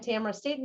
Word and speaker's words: Tamara Staten: I'm Tamara Staten, as I mentioned, rhymes with camera and Satan, but don't tell my in-laws I'm telling you that.